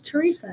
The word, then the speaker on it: Teresa: Do you pronounce the H? Teresa.